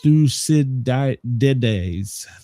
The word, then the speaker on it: Thucydides: See, it's pronounced Thucydides.